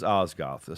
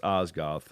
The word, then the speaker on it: Osgoth: do you pronounce osgoth it is ozgoth so i think about oz oz goth but i wanted to spell it cool um you know so it's osgoth um just like i